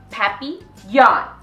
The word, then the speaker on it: papillon: hope we get a papillon like our neighbor's dog you say it like this papi yawn it's in french it means butterfly i help mr vine take